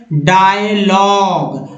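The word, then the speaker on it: dialogue: डायलॉग GUE को ग पढ़ते हैं, डायलॉग मीन संवाद।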